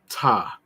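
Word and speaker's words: Ptah: back to the word t some people refer to the god t uh spelled PT ah in English pronounced t c a staff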